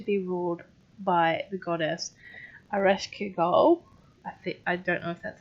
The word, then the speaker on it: Ereshkigal: I did write some of the pronunciations out, but I don't think I wrote. Oh no, Ereshkigal.